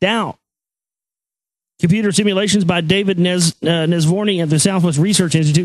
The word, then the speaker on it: Nesvorny: To reach his conclusions, how do you say this guy's Nesvorny? Yeah, Nesvorny ran 6,000 simulations of the solar system's birth and early development.